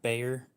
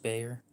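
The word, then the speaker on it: Bexar: so this is my uh tactile knife Cod Bayer it's spelled b x a r but it's pronouned Bayer it's pronounced Bayer so it's got Magna cut blade steel and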